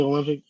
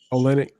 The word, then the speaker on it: Olynyk: it comes to guys like Porter and Kelly Olympic. Olynyk, yeah.